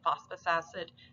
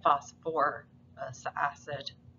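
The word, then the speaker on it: phosphorous acid: a little weird because we don't say phosphorus acid we actually put back in the um syllable so we say phosphor acid and that's just something you kind of get used to you'll see it enough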